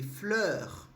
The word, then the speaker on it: fleur: Meio que um som de Então, como é que eu faço som de Eu vou abrir um pouquinho a boca, no final fica um R, um pouco assim, da garganta, mas um pouco puxado, não é muito.